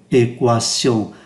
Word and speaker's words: équation: phải đọc lọc qua, bởi vì theo quy tắc thông thường thì QI chúng ta phát âm là cờ, chẳng hạn như là chữ question. Une question là một câu hỏi hay một vấn đề đó, thì chúng ta không phát âm cái tự U, une question, thì ở đây người ta lại phát âm équation.